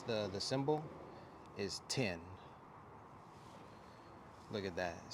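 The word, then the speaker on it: 天: Heaven and the way that you pronounce it pronounce the the symbol is 10 look at that it says 10 on the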